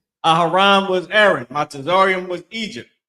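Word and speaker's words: אהרן: Aharon is Aaron. Aharon, that's how you say it.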